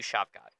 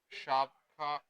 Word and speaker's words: Shavkat: Uh, Shavkat is that how it's pronounced? Shovkat, yep.